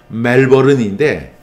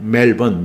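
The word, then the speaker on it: Melbourne: 호주의 멜번이라고 하는 도시에요 이제 정확한 발음은 멜버른인데 그냥 이렇게 호주스럽던 멜번 멜번 이렇게 해요 근데 호주의 그 멜번에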